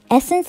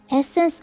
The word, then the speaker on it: Essens: leaders among pharmaceutical companies essence offers much more than it seems at first glance the name itself covers several meanings and words it is identically pronounced as an english word essence which stands for the